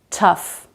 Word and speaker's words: tough: But there are some exceptions to this rule. Cough, rough, tough. There, GH does make a sound, it's the F sound.